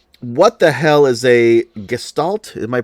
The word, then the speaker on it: Gestalt: What the hell is a Gestalt? Am I pronouncing that right? You're pronouncing that correct. Gestalt.